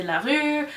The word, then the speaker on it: LaRue: Invisible Life of Addie LaRue. I don't care who makes fun of me because of the way I say it. That's the correct way to say it because she is French.